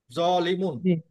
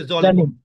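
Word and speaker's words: ظالمون: জালিম এটাই হবে আরবিতে জলিমুন এইযে আসল কিন্তু উচ্চারণ হবে জলিমুন জালিম কিন্তু হবে না আমরা বাংলাতে যদিও জালিম বলি কিন্তু আরবিতে হবে জালিমুন বা জলিম মাজলুমুন জুলমুন অর্থাৎ জলিম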